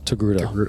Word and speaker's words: Togruta: Is that how you say it? Togruta? Yes, Togruta.